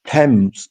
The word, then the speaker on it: Tems: Yeah, you can say T E M S if you want. Tems. Tems. It's Tems. Yeah, with a Z.